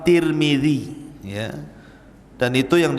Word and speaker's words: Tirmidzi: kota sebuah daerah dan ada yang kemudian membacanya tarmid ada turmud ada tirmid jadi ada sebagian mengatakan Imam tarmadizi ada yang mengatakan Imam turmudzi ada yang mengatakan Imam Tirmidzi walaupun yang masyhur adalah Imam Tirmidzi ya ya dan itu